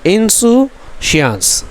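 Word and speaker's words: insouciance: देखो इसका जो प्रोनाउंसिएशन है, सुन लो मैं क्या बोल रहा हूँ, ठीक है। इंसुशियांस क्या है, इंसुशियांस, द इंसुशियांस इज़, इसका मतलब क्या हो गया, लापरवाही, है ना।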